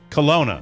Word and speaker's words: Kalona: uh south of kelana is that how you pronounce colona yes how do you spell it k-a-l-o-n-a oh see it was uh typed c-o-l-o-n-n it was a phonetic spelling like jerry colon of the comics probably really you gave